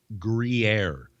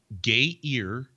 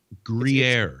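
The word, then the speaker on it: Gruyère: for all to hear you pronounce this agree grier it's not gay ear it's not gay rear we're not each other here it's a cheese gruyere you mean it's not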